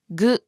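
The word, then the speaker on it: ぐ: It's pronounced as gu.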